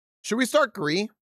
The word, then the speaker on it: Gris: Um, yeah, I was told it's pronounced Gree like the color gray in French.